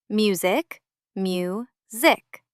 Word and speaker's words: music: Because the syllable is open. A syllable is a small part of a word with one vowel sound. Music, mu, zik.